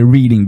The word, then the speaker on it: Reading: do you say that Reading Pennsylvania yeah about to say reading but it's reading yeah yeah but yeah